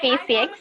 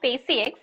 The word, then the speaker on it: Spaciux: Okay, so it's SpaceX. I know. How to pronounce it. So it's SpaceX.